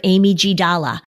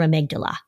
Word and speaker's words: amygdala: There was one little girl who called it her Amy G. Dalla, because that's the way it looks like when it's spelled.